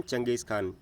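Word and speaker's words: Genghis Khan: देखिए, इसकी स्पेलिंग देख लीजिए, इसे कहेंगे हम चंगेज़ खान, जबकि क्या लिखा है? जेंगिस खान।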